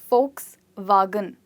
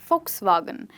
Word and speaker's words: Volkswagen: So this is one way to remember it, Volkswagen. But if you want to say it quickly, you'd rather say Volkswagen.